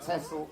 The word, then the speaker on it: Texel: We pronounce it Texel, they pronounce it Texel.